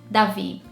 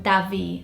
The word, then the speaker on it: Davi: In Portuguese, or with a Brazilian accent, we would say it Davi. And in the UK, you'd probably say it Davi as well, but just with a less strong A. And in Portuguese, it's a Davi, a very open A for da. And here it would be a softer A sound, I'm assuming.